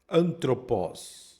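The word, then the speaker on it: ἄνθρωπος: Então, na primeira palavra aí, antroposó. Na segunda, hagios. Então essa daqui ficou fácil. Você já viu no exercício anterior, quando ele parece com uma vírgula, não é pronunciado.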